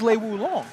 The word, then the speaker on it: Lei Wulong: I like Lei Wulong.